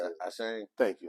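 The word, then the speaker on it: Achane: Ashane. Thank you, Ashane.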